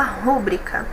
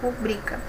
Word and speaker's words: rubrica: Muita gente fala rúbrica, né? Mas se fosse proparoxítona, ela seria acentuada. Ela não é acentuada porque a sílaba tônica é a penúltima aqui, tá? Rubrica.